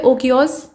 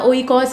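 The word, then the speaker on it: οἶκος: एक तो है ओकियोस या ओइकॉस इसको कहा जाता है, ठीक है, स्पेलिंग के हिसाब से ओइकास होगा।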